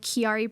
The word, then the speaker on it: Chiari: And so I'm like diving into this diagnosis and I come across this website called Chiari Bridges. How do you spell that?